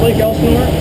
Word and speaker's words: Lake Elsinore: Yep, that's Lake Elsinore.